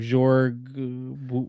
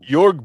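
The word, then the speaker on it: Jörg: Jorg Yorg Bgr.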